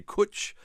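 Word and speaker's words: cwtch: now too as certainly if they say kuch we know that they're Welch yeah because they spell it c-w-t-c-h which I love that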